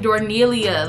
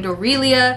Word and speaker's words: Dorelia: all my other videos I've been calling this wig dornelia like the way I be giving these wigs new names and new pronunciations y'all also told me